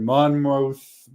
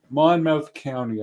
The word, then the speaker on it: Monmouth: do go to New Jersey a lot but Monmouth Monmouth County Monmouth County I believe it's pronouned pronounced he said there was six cited near